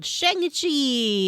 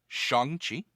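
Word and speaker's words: Shang-Chi: watched a movie called shanghi and the legend of the ten rings excuse me two things one it is shanxi two i know that because my son corrected my pronunciation the other day and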